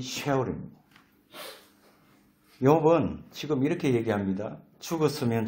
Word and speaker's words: 스올: 이 서울이라는 이 정확한 발음은 쉐올입니다.